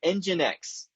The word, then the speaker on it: nginx: throw this up here nginx that's how you pronounce that weird sequence of uh consonants and one vowel nginx is a web